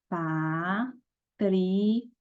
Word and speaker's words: patrimônio: Patrimônio. Separei. O que eu estou vendo aqui? Que o mo é a palavra, é a sílaba mais forte.